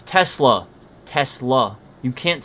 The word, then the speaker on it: Tesla: I mean, that retard can't even say Tesla right. Like, he literally can't even... He's like, Tesla... Talk about fucking stupid. Tesla! It's Tesla.